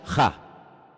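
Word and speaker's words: ה: En hebreo solamente hay un artículo, no hay él, no hay la, hay uno solo. Se pronuncia ja, solamente hay uno.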